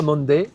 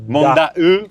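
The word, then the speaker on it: Monday: Alors ça s'écrit m O N D A Y mais ça se prononce pas monde. Ça se prononce manda. manda e pareil parce que l'eau et le e c'est l'eau.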